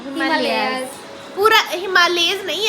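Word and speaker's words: Himalayas: मैं हिमालयस की प्रोनाउंसिएशन सुन रही। अच्छा, हिमालयास, मैं कह रही थी हिमालयास माउंटेन रेंजेस, और हमदा कह रही थी हिमालयज है, तो फिर हिमालयज ही निकला।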